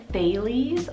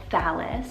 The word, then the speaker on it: Thales: To start off the list today, we are doing a unisex name, and this one can be pronounced two different ways, and that is the name Thales or Thales, spelled Thales.